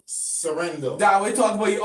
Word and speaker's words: Sorhaindo: Sorhaindo. That we talk about you on. You got the pronunciation. Sorhaindo is not Serrano, is not Soprano.